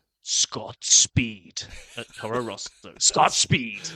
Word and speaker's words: Scott Speed: You gotta say it like Bond. Speed. Scott Speed.